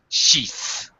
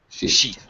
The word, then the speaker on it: sheath: The noun form has a voiceless th. Sheath. Sheath.